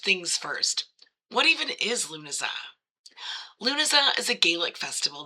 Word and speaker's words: Lughnasadh: I pronounce it as Lughnasadh.